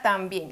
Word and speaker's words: también: sílabas lleva la fuerza cuál de estas dos en la sílaba tónica tan o bien es también si entonces la fuerza lleva